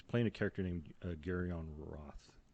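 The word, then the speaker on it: Rath: He's playing a character named Garion Roth. It's spelled R-A-T-H, Roth, but I think it's pronounced Roth.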